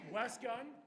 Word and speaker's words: Wes Gun: Wes Gun. Rhymes with less fun.